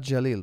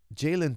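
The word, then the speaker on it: Jalin: her it's just insane it's jayen Turner not Jalil pardon me okay my Arabic tongue goes to Jalil forgive me okay my uh pronunciation is really bad I know in Arabic we say Jal so part of to me it's Jaylen Turner zann says I miss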